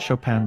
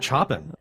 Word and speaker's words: Chopin: I didn't realize that Chopin was actually Polish, and his name is It's actually Chopin, if I'm not. But the Chopin, that's a French pronunciation. Yes, that's the French pronunciation, but Polish is Friedrich blah, blah, blah.